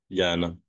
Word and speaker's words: Jann: Un homme, John, on dit John ou Yann? Yann. On dit Yann et ça s'écrit J-A-N, avec un H.